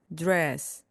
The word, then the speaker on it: dress: 이때도 마찬가지로 R이 함께 나와서 우하고 입술을 앞으로 내밀면서 시작하시면 됩니다. dress, dress, dress, 원피스 정장입니다.